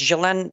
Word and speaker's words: Ghislaine: I know probably here you pronounce it Ghislaine or Ghislaine. I don't know. It's Ghislaine Maxwell.